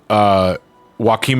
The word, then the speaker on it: Joaquim: Joaquim is meant to be read with a Hispanic pronunciation.